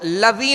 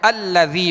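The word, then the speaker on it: الذي: تشدید ہے۔ یہ سکون بشکل تشدید ہے۔ تو اب اس کو لذی نہیں پڑھیں گے، لذی نہیں پڑھیں گے، ہجے بھی کریں گے تب بھی حمزہ کے ساتھ ملائیں گے، اور رواں میں پڑھیں گے تب بھی حمزہ کے ساتھ ملا کر پڑھیں گے، تو الذی پڑھیں گے۔ اگرچہ حمزہ پر کوئی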